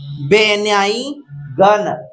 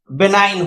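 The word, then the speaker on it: benign: है तो यहां देखिए अगर आप ध्यान से पढ़ेंगे तो बेनाई गन बनान होता लेकिन ये क्या है बिनाइन होता तो आप ध्यान दीजिए यह बिनाइन है बिनाइन माने दयालु यानी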